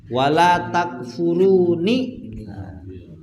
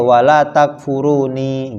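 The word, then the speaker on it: وَلَا تَكْفُرُونِ: Iya, bacanya takfurun. Wala takfurun kan gitu. Karena ya-nya sudah dibuang. Nah, kalau sebagian qiraah ya-nya tetap dipertahankan. Bacanya ya wala takfuruni gitu. Ya. Kalau ini memhafaz ya sudah dibuang ya-nya. Kita bacanya ya wala takfurun, ya.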